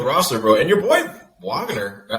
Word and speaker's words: Wagner: And your boy Wagner, how do you say it? It's like Wagner? Wagner. It's like a Wagner? V.